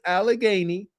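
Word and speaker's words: Allegheny: All you got to do is type in Alagany. Type in Alagany and it will show you how to say it. It will give you the annun pronunciation is AlaGany.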